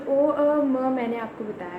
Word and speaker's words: ओम: तो ओ म इन 3 शब्दों से मिलकर ओम बना है।